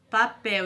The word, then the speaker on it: papel: Então, essas palavras azul, sol, papel e pastel, elas são escritas com L, mas o som é da vogal U. Devemos ter cuidado na hora de escrever palavras com L e U no final da sílaba, já que a letra L tem som idêntico ao da semivogal U.